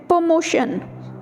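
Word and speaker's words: promotion: प्रो की बजाय प्रमोशन, प्रमोशन, ठीक है. So that is the right pronunciation of the word.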